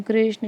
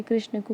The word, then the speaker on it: कृष्ण: जैसे जैसे मैंने बताया कि कृष्ण को कृष्णा कर दिया, तो ये जो है